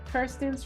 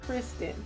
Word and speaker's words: Kirsten: In the next scene, we then see Kirsten's friend give a toast, and she tells us all, please say her name right. It is Kirsten and not Kristen.